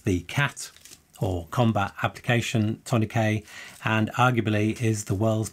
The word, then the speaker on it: tourniquet: And by the way, in the US, you would probably say tourniquet, and that's how it's spelt. But since the word originated in France, in the UK, we actually say tourniquet.